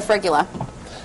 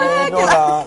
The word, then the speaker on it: fregola: I'm going to grab the frigula. Is that how you pronounce it? Fregola. There we go.